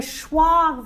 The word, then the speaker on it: schwa: pure vowel and a schwa vowel. Schwa. Right? Wow. The schwa sound is a reduced sound. It helps us get the contrast between a stressed syllable and an unstressed syllable.